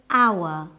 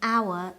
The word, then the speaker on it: hour: uh for example an hour we use n because the H in hour is silent a hospital we use